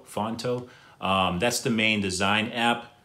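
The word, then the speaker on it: Phonto: that i use is actually an app called fonto it's spelt p h o n t o fonto that's the main design app that i use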